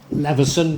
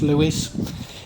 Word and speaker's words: Leveson: married Sir Richard and Leveson, but I think it's pronounced Lewis, his other niece, Alice,